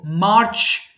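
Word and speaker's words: March: এরপর দেখো মার্চ, অর্থাৎ ছ সাউন্ড যেটা হবে সেটা অবশ্যই বড় করে বলবা, মার্চ, মার্চ, এবং ছয়ের মতো, চয়ের মতো না, আমরা বলি না মার্চ, মার্চ, শক্ত করে হবে মার্চ, মার্চ।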